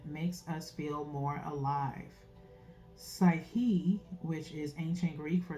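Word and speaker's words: psykhe: soul mind and spirit that's p s y k h e okay okay okay so that K is in my opinion how I'm pronouncing it is kind of Silent okay so what lights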